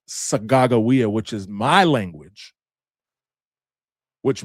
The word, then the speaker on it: Sacagawea: Well, you probably heard of Sacagawea, right? Actually, her name is pronounced Sagagawea, which is my language, which means bird woman.